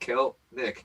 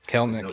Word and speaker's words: Kelenic: So if you don't know how to pronounce his name, it's pronounced Kelenic. Kelenic, yeah. So I apologize for all the breaks I've done so far where I've called him Kelenic.